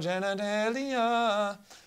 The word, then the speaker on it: genitalia: No genitalia. Genitalia rhymes with Australia.